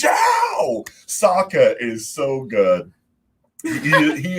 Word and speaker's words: Zhao: they did that for the kid keeps calling him the wrong name admiral joe it's zhao saka is so good